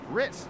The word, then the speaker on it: Ritz: heard from Robert Anderson, Ritz is pronounced Ritz, like the cracker.